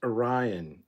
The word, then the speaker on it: Orion: that um but yeah calling out you know it's pronounced Orion idiot was was great um